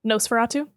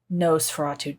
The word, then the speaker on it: Nosferatu: Nosferatu? Nosferatu.